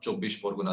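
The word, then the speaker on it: চব্বিশ পরগনা: Okay, I'll give you the Bengali pronunciation. It's called North 24 Parganas, North Chobish Pargana. That's how you say it in Bengali.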